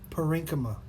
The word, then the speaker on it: parenchyma: we have parenchyma now number one is pronounced parenchyma and you have a